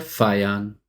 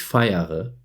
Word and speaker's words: feiere: La pronunciación correcta sería ich feiere y lo debes escribir así. Pero muchas veces nos comemos la última sílaba y decimos ich feier.